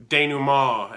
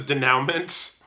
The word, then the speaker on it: denouement: But yeah, I've made it to finale denouement, as they say, which I used to pronounce as denouement because I'd never heard the word spoken before. I'd only seen it written.